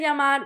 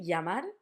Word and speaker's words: llamar: We would say it for example, llamar. Llamar. We could say llamar, we can say llamar, like a y. Or some people in some countries would say llamar, like a j.